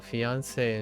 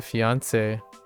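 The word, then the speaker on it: fiancé: Oh, fiance and fiance both are pronounced the same way.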